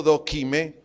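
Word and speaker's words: δοκιμή: produce prueba del griego do kime con k acento en la e dokime que en nuestro idioma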